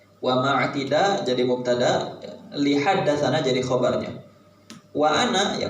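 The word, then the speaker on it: حدثنا: Sana juga nggak boleh dibaca sana, harus dibaca haddatsana. Jadi dalam penulisan doang ini.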